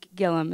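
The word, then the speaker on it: Gillam: sentence in Kerri Gilliam Gilliam is how you pronounce her last name right um her book whitewash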